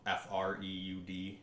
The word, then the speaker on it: Freud: I read his name so weird because it's spelled f-r-e-u-d yes Freud I believe that uh